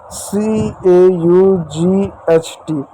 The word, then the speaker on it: caught: पढ़ेंगे अ पढ़ेंगे, और GH साइलेंट होगा, सिर्फ T को पढ़ते हैं, जैसे CAUGHT।